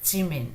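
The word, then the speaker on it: 지민: It is neither j nor j. It is somewhere in between. Ch. Jungkook, as you see, it's slightly, very softly, a little bit of air comes out of it. J. Jungkook, Jimin, J. Jin. So this is Kim Suk Jin, Park Jimin, John Jungkook. So J. This is J. So it's like Jib. It's more towards J but not exactly J.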